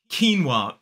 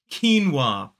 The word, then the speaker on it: quinoa: So it's k-e, that long E vowel sound, the same vowel sound we see in the word feet. And then we have n, and then we have w, and a long R vowel sound. So it's quinoa. 2 syllables, the stress falls on the first.